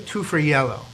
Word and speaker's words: Tufariello: special guest with us i'm going to try to pronounce her name phonetically two for yellow is that good absolutely perfect okay and the area